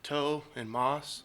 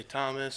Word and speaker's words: Tomas: so we'll say well there's no h so it's just like toe and Moss some people say Thomas some people say like